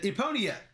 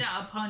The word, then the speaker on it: Epona: Someone asked Steph, what game is that? She said, Eponia. And I said, Epona. I said, no, Epona.